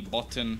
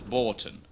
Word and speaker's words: Borton: a site it will just be Boton or Bon I've been told it's Borton I've been specifically messaged and told that I was saying it wrong and it is Borton I still forgot to